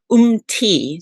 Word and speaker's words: Umthi: So it's pronounced Umthi. So like a yogi and with a short T. So the H is silent.